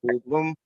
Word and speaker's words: Kool Bloom: I use Armourcelia, and I think it's pronounced Cool Bloom, KOOL Bloom.